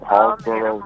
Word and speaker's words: Hallsboro: Now, you're from Hallsboro, North Carolina. Did I say it right? Indeed, you did. Yep, Hallsboro, North Carolina.